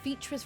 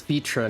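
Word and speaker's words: Vrtra: you're carrying out vitra's request and assaulting the Tower of zot should be our highest priority oh it's vitra not vitra the the r is silent got it I agree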